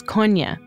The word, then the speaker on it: Kony: the proper pronunciation is cona it's sort of like cognac always telling about the